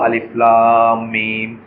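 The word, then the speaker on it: الم: কি বলি, আল বলি, কিন্তু এখানে আল বলবো না, এখানে কি বলবো, আলিফ লাম মিম, মানে আমরা আলাদা আলাদা করে উচ্চারণ করবো, অক্ষরগুলোকে উচ্চারণ করবো, ডিসজয়েন্ট লেটার বলে এটাকে।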